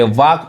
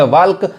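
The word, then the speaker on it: walk: तो यहाँ पे वाक पढ़ाएगा। जैसे इसको पढ़ेंगे वाल्क तो गलत पढ़ाएगा, गलत हो जाएगा उच्चारण। तो ये क्या पढ़ाएगा? वाक पढ़ाएगा, यानी एल साइलेंट है।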